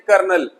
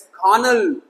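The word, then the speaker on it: colonel: जैसे कि इसे बोलते हैं कर्नल, लेकिन इंग्लिश में कैसे लिखोगे कर्नल? इट्स खानल।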